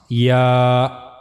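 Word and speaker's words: ي: Middle of the tongue will touch to the roof of the mouth. So that's how you can easily pronounce yah.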